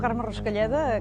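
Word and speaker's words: Carme Ruscalleda: I'm not the best name pronouncer, guys. Hola, sóc Carme Rascalleda, cap de cuina del restaurant Sant Pau, a Sant Pol de Mar.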